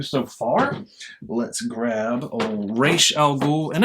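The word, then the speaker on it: Ra's: far let's grab a race Al ghoul and I've decided on Race because I'm a Batman animated series person and that is uh that's how they pronounce it in there so I'm a big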